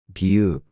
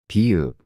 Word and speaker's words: 비읍: the m in 미 비읍 b as in book. To pronounce this sound, close your lips together and then release the air forcefully, making a sound similar to B.